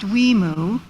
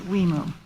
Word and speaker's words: WIMU: For anyone who is wondering, the abbreviation for our Washington, Idaho, Montana, and Utah program, or WIMU, is pronounced WIMU.